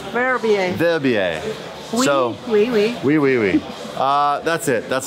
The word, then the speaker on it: Verbier: Do you pronounce this Verbier? Verbier.